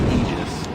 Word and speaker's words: Aegis: The pronunciation of Aegis, it's actually Aegis. Right? Like, literally a definition. You can look it up.